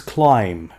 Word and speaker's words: climb: climb up the mountain this is climb B is silent after the climb up